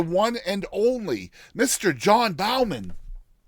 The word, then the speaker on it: Baumann: It is Bowman, though, right?